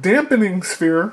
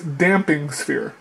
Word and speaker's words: Damping Sphere: Not Dampening Sphere. I don't know why people say Dampening Sphere. It's not Dampening Sphere, it's Damping Sphere.